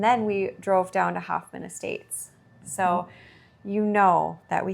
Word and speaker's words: Hoffman Estates: The last time we podcast, we were getting ready to go to the Makers Meetup in Hampton Estates. Hoffman Estates. I always say it wrong.